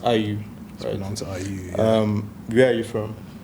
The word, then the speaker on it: Ayüü: um yes yeah and it's pronounced are you um where are you